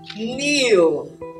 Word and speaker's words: kneel: bending you're kneeling you're in a kneeling position kneel kneel with nails down to pray neil i